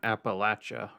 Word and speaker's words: Appalachia: It's pronounced Appalachia, right?